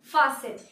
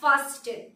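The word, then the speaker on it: fasten: Seat বেল্টটাকে লাগিয়ে নিন, ফাসেন। এখানে টি হচ্ছে সাইলেন্ট, তাই আমরা কিন্তু কখনোই বলবো না ফাস্টেন, ফাস্টেন, the word is ফাসেন, ফাসেন।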